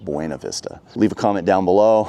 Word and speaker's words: Buena Vista: might be saying it's Buena Vista, not Buena Vista. Well, this is kind of like Hurricane Utah isn't Hurricane Utah. The way they pronounce it here is Buena Vista, not Buena Vista.